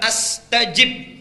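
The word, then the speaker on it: أستجب: Ini cara membacanya. Satu dua. Satu ujibu. Dua, astajib. Panjang mana?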